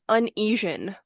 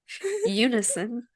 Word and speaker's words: unison: episode or whatever yeah for years I thought this word was uneasian like are you dyslexic I don't think so I don't but they did things in uneasion and then like people were saying Eunice and I'm like I don't know that word same word like does it start with a y Unison no like uni like University oh look at that